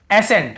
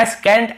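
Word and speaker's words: ascent: जैसे देखिए एसेंट, हम क्या पढ़ रहे हैं? एसेंट। यहाँ पे एस सेंट या एस कैंट ऐसे नहीं पढ़ रहे हैं।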